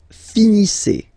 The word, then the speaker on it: finissez: Vous finissez. Vous finissez. Okay, a Z at the end gives you the sound E. Okay, finissez. Finissez. Vous finissez.